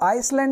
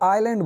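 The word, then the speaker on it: island: जैसे इसको आइसलैंड नहीं बोलते, इजलैंड भी नहीं बोलते, इसको आइलैंड बोलते हैं, आइलैंड, ओके।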